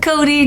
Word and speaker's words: Cote: Um, am I am I pronouncing your name properly? Cot. Is it Cody? Cot. It's fun. Cody. Oh, Cody. Let's get it right.